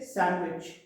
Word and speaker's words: sandwich: We should say sandwich.